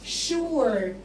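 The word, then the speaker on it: sure: فالولد قال له شور يعني اكيد، حاضر حاضر شور شور. الاس واليو هنا يا اولاد اتنطقت ش، الاس مع اليو نطقنا ش، شو شو شو شور شور شور يعني اكيد، اس يو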